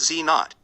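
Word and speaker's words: Z⁰: w plus w pronounced w minus and z pronounced z naught and each had a mass of around 100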